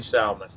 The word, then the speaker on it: salmon: The L is silent.